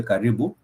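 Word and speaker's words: karibu: you do say kibu you do say kibu k a r i b u k that is the word with three syllables K and kibu simply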